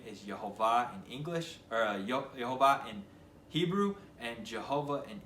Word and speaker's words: Yehovah: that his name is Jehovah in English or Y Jehovah in Hebrew and Jehovah in English if you want to pronounce it that way with the J so